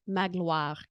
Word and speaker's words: Magloire: You kind of create a W, Magloire, like that.